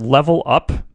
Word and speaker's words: LVL UP: thought about this band they're called level up and it's spelled in this goofy way and all capital